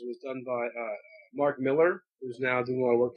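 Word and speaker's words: Millar: the last ones was done by uh Mark Miller who's now doing a lot of work for Marvel but it's spelled in some crazy Scottish way with an a m i l uh but it's pronounced Miller.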